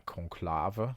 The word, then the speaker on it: Conclave: Uh, conclava, that's how we pronounce it over here in the Netherlands.